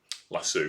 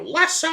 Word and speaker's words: lasso: i must admit but lasso of course that's the english pronunciation um if she was here she'd go lasso um it's the only